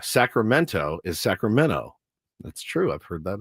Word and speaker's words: Sacramento: We don't pronounce T's either in California. Sacramento is Sacramento.